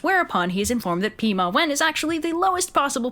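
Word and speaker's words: 弼马温: Jade Emperor, who appoints him the position of Pima Wen, which makes him Correct pronunciation is Pi Ma Wen.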